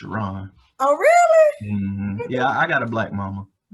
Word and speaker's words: Sharon: Looks like Sharon, but it's pronounced Sharon.